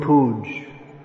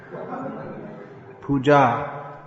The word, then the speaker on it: puja: in english uh yeah don't say please don't say guru puj puja puj what does that mean it's almost hm in bengali there's a word sounds like that it means pus uh okay